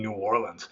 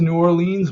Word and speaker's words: New Orleans: It's not pronounced New Orleans, mind you. Everyone there calls it New Orleans. So if you go there and call it New Orleans, people know you're from out of town, and I don't know,